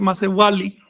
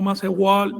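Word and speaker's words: macehualli: El término Macehual, en náhuatl se dice Macewali, ¿ok? No Macehual, no, Macewali.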